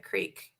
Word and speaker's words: creek: no, I only wear the waders if I'm fishing in a creek. Okay. Isn't it pronounced a crick? If you're a backwards ass redneck, sure.